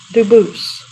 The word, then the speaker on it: Dubus: as the original Dubus, as the original French. Yep. Very well, Dubus.